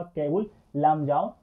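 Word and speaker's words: Keibul Lamjao: इसका सही उच्चारण है केबुल लामजाओ राष्ट्रीय उद्यान।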